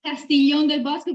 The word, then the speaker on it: Castiglione del Bosco: Our guest today is Selena Pitalis, hospitality at Castiglione del Bosco. Did I pronounce all that okay? Yeah, it's Castiglione del Bosco, but a really good pronounce.